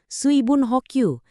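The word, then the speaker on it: 水分補給: Suibun hokyu dibaca suibun hokyu artinya asupan cairan atau hidrasi.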